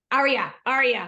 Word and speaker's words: Arya: Arya. Like, are you hungry?